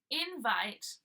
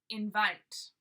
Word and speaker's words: invite: with a link provided so just notice there's two pronunciations invite invite alright when we use it as noun we send invite emphasizing the in and when we use as a verb we emphasize the vite invite okay I will send